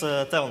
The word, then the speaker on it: Teon: can hear me well well my name is Devin also pronounce this thing a bit like that character